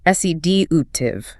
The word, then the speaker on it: sedative: An anxious patient might need a sedative, pronounced s e d u tive.